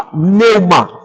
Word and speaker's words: pneuma: Elas são traduzidas da palavra pneuma. P-N-E-U. M-A, pneuma. Se lê pneuma. O P não se pronuncia.